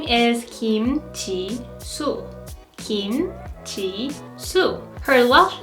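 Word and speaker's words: Jisoo: is Chi su Perseids name is Chi su in Korean t su and her birth name is Kim Chi su Kim Chi su her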